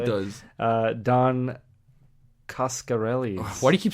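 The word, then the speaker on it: Coscarelli: Uh, Don Kascarelli. Why do you keep saying it weird? How do you say it? Cascarelli, but it's an O.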